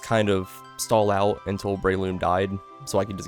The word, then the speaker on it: Breloom: The name is Breloom. It rhymes with doom.